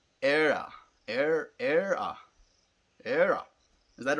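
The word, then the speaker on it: Éire: Ira. Ira. So, like, we call Ireland in Afrikaans Ierland. So it's almost like that. Ierland. Ireland. It's pronounced era.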